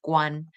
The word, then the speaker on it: Guan: about the surname Guan, which in Mandarin is pronounced Guan.